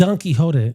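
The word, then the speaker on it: Don Quixote: It's donkeyote, but the but the adjective in English is quicksodic.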